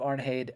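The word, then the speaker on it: Arnheid: I pointed out that in in the Norse languages today the EI makes the a sound so yeah Leif a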